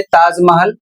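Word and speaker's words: Taj Mahal: लेकिन यदि वह इंग्लिश में प्रयोग हो रहा है शब्द और अक्षर तो वहां पर टी का उच्चारण ट होगा। ता नहीं होगा।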